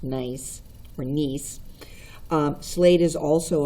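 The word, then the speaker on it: gneiss: the foliated texture of this is pronounced nice or nice slate is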